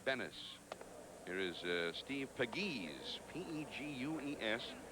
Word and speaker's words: Pegues: Here is Steve Pegues, P-E-G-U-E-S, pronounced Pegues, as if you didn't already know that.